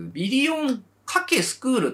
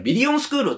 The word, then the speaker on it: ビリオン×スクール: て書いてけどビリオンかけスクールって書いてあるんですけど読む時はビリオンスクールって読むじゃないですか